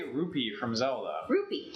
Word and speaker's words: rupee: Rupy. Rupy like the Indian currency.